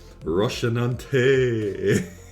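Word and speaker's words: Rocinante: I implore thee, O illustrious red gaze, prithee, grant me thy permission and allow me to board with Roshanante. Alright, so it's pronounced like Dante, surely.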